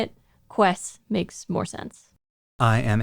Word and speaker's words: Quess: Sometimes people pronounce this name Kess. The Japanese is Quessu Pariah. The way that it's romanized is Quess, which sometimes ends up making a hard K sound rather than a U sound.